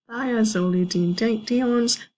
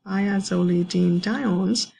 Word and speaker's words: thiazolidinediones: This one, the one that's really hard to pronounce, again, I'm going to try, is called thiazolidinediones, and So this drug over here, or this type of drug that is pronounced thiazolidinediones, is no longer used.